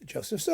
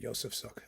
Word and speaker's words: Josef Suk: and SE minor with Joseph Su or yoseph suuk however you want to pronounce it um and it's